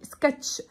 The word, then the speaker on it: sketch: sketch خلي بالك السي والاتش بنطقها تشا.